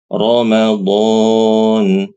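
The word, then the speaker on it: رمضان: wahaja Huruf rnya tebal lalu Ramadan Ramadan rnya tebal Ar Arrahman arah Rahman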